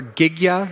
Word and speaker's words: Gigya: I work for Gigya, is actually how the company's name is pronounced.